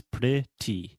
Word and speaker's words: pretty: the first one the first sound the first syllable is pretty that's a great word to train so say